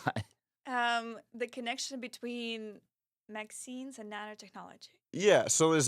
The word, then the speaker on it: MXene: it's MX yes um like jeans or whatever which is pronounced Maxine which is fun but